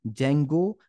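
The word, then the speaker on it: Django: कि हम कहते हैं जंगो एंड फल स्क अच्छा यहां पे डी जंगो नहीं है डी जो है साइलेंट है इस बात पे ध्यान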